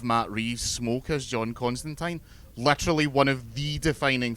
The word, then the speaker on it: Constantine: the Constantine TV show, which is how you pronounce his name, it's how they say it in the comics, he makes that point several times, and I once got a reply from Neil Gaiman on Twitter confirming it.